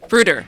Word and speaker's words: Bruder: And Bruder? Bruder. Yes. Bruder Yes. is a proper way to say Yeah.